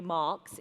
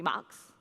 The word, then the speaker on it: Max: We decided it wasn't going to be Marx, it was going to be Max, but with the emphasis on the, but.